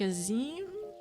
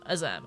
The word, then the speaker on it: Azem: I'm like, oh, do you pronounce it like Azim? Like, you know, in store-bought? And I was like, no, Azem, okay.